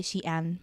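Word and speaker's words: 西安: And like, I would say Xi'an, but other provinces up north. That pronunciation was on point.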